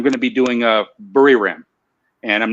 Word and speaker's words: Buriram: You don't need to roll it, and you just say it like Buriram. Buriram. Am I close? Bu. Li. Re. Just Li, like L-E. Oh, Li. Buli. And L-A-M. Lam. Mom. L-A-M. L-A-M. Burly Lam. Just keep it like that first, and then